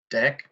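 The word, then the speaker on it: deque: good yeah very good and how about this deck yeah very good this is yeah that okay remember that is what what what is that the the fill in what is a deck the i haven't completed the word dough what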